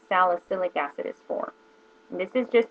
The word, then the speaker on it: salicylic: i wanted to use a salicic acid which salicic acid is more for someone with oily skin and had and is prone to breakouts is what um salicylic acid i'm saying it wrong salicylic acid is for this is